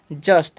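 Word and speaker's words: just: जे का उच्चारण हम करते हैं ज। अब यहां पर यू जो है ना उसका उच्चारण ऊ नहीं करना है। अ करना है। ठीक है? अब अ हो गया। अब जब भी एस टी साथ में रहेगा तो उसका उच्चारण अष्ट कर देना है। तो हो गया अष्ट यानी कि जस्ट। इसे हम क्या भर दिया?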